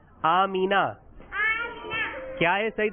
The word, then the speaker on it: آمنہ: آمنہ بھی صحیح نہیں ہے, صحیح ہے اس کا نام آمینہ.